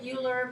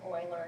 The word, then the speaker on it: Euler: And it looks like Euler, but because of the country and how they say things, Euler is actually how you pronounce his name.